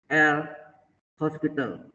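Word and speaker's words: L'Hôpital: Ini terkenal dengan dalil L hospital. Bukan rumah sakit ya. O ini pakai topi, tidak ada S-nya, bacanya hospital.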